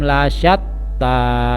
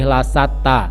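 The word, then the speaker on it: لَشَتّى: Inna sa'yakum lasyatta. Ya, di situ ada huruf shin, jadi harus sedikit mulutnya didesahkan. Lasyatta, tidak boleh lasata.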